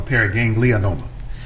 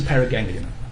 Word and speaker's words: paraganglioma: Doctor, just for clarification, is it pronounced paraganglioma or paraganglionoma? I often add in the extra vowel, so it's a paraganglioma.